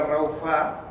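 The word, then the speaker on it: רָפָה: que significa aflojar y esta palabra que se pronuncia raufa se define en muchas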